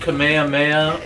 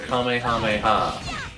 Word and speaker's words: Kamehameha: yeah I was asking do you pronounce it Kamehameha or Kamehameha it's both God damn right oh